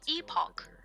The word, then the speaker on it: epoch: We don't need It's pronounced epoch, by the way.